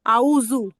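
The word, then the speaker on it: أعوذ: বলছেন এটা হবে আউজু আউজু এটা জাল দিয়ে হবে বা আরবি হরফ জাল উচ্চারণ আউজু আচ্ছা আচ্ছা ঠিক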